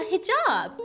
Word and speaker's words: hijab: A hijab. It's like 2 syllables, Teddy, you moron.